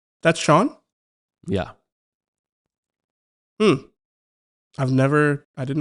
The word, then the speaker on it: Chone: That's Shawn?